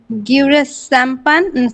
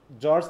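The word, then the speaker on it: George: এডমার্ড Spencer, Thomas স্যাকবিল, Philip Sydney, গিউরেস Chapman, আর স্যারটা মনে নাই। জর্জ Chapman, তাই তো? জর্জ, ওটা বলবা কি জর্জ চ্যাপম্যান, হ্যাঁ জর্জ, চ্যাপম্যান। হ্যাঁ এই যে জর্জ, এটা উচ্চারণ হবে কিন্তু জর্জ, হ্যাঁ জর্জ চ্যাপম্যান।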